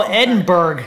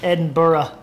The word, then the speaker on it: Edinburgh: Edinburgh Scotland Edinburgh Scotland how do you pronounce that is it cuz I like an American I was always like Oh Edinburgh there's a bunch of castles up there in Edinburgh but I think it's Edinburgh and they say Barra Edinburgh